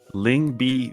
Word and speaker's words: Lyngby: here is that eClub Brugge will play against Lyngby Vikings. Yes, is that, did I finally say it right? Yeah, they will play against Lyngby Vikings, I think, in the semifinals of the ESL Benelux Summer Championship.